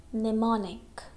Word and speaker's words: mnemonic: Only one word we can see here, mnemonic. Okay? Mnemonic. This M is silent.